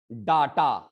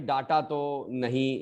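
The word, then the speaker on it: data: ठीक है, अब आते हैं, ये तो बड़ा वर्ड डाटा, भाई डाटा तो नहीं इसको बोलेंगे, डाटा तो हिंदी में भले आप बोल सकते हैं, बट इन इंग्लिश इसको हम लोग बोलेंगे डेटा, डेटा।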